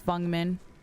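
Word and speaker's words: Feng: Why does she say fun men like that? Cuz that's how you pronounce her name. Her name is Fung.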